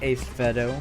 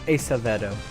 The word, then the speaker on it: Acevedo: After 3 events, Joshua Jones, stereo points leader, 9 points over Grayson Acevedo. I was saying it wrong. Or Acevedo, my bad.